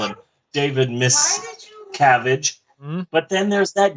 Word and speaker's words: Miscavige: Because it literally had like 3 or 4 different pronunciations of this guy's name. Because literally, it just... I think like miscarriage. Yeah. Miscarriage. Miscavige.